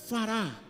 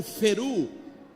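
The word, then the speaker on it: פרו: Porque o termo aqui no hebraico, para essa palavra, é fará, ou feru, como alguns pronunciam, que significa: sejam proveitosos,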